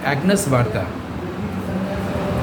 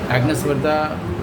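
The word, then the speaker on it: Agnès Varda: अब एक और वायदा इसी स्पेलिंग से याद आया, उच्चारण से, एग्नेस वार्दा।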